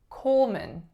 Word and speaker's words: Coleman: next up we have Coleman Pullman the first vowel is o goes right into a dark L the second syllable is not man its min min so M schwa n Coleman Coleman next one